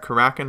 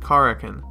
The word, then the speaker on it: Karakin: name of Corrigan now you might have heard kurakin before I've even said that on my channel before I knew the correct pronunciation or even Carrigan but it is in fact Corrigan and being two by two it's a quarter